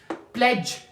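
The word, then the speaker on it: pledge: लोग कहते हैं बर्गर प्लेज यहां पे डी क्या है साइलेंट है प्लेज मीन कसम खाना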